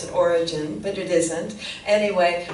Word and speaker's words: Origen: And some people pronounce it Origen, but it isn't. Anyway, Origen, Origen.